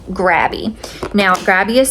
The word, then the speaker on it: Grabie: okay these markers are from a company called grabby now grabby is spelled g r a b i e okay